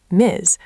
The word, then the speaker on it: Ms.: But MS pronounced with a Z sound, Miz, works for everyone.